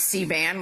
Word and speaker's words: C-band: You just talked about C-band, which I just learned, and I had to realize with my mnemonic device that it is rhyming with C-SPAN.